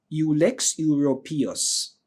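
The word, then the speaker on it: Ulex europaeus: U L E X and U P A E U S Ux urus. All right, that's how we normally pronounce it.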